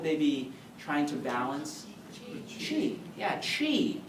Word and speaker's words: qi: Qi. Yeah, qi. It's spelled Qi.